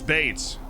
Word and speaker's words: Bates: Lewis Bates. It's pronounced Bate.